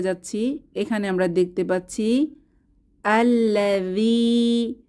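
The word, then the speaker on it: الذي: এখানে আমরা দেখতে পাচ্ছি আল্লাযী, শেষে ইয়ামাদ আছে, একালিফ টেনে পড়ব। আল্লাযী, আল্লাযী অর্থ যে বা যিনি।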